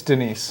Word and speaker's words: Denise: Is that Denise or Dennis? It's Denise.